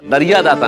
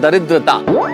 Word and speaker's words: दरिद्रता: अरे नहीं ये दरिया दाता नहीं, इस शब्द का उच्चारण है दरिद्रता।